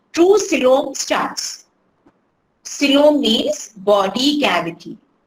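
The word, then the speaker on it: coelom: true s true t r u e true silom STS silom means body cavity example this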